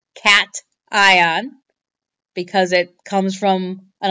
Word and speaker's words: cation: a positive ion is called a cat ion okay cation CA tion that's the name for a positive ion it's not pronounced ocation it's pronounced cat ion because it comes from